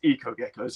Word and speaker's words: Eco Gecko's: half suggested to um take out the h and it would still be the same so without even thinking we took out the h and we still pronounce the echo geckos also i'm saying it right eco geckos so which is it it's eco geckos it is now yes